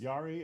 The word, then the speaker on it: Jari: Yari as it Yari, but it's spelled J A R I.